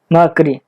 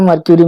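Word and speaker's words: mercury: मर्करी, मर्करी बोलते हैं, मैं मर्क्यूरी मर्क्यूरी बोल रहा हूँ, मर्करी एक्चुअली उसका प्रोनाउंसिएशन है, जो भी आप देख लीजिएगा।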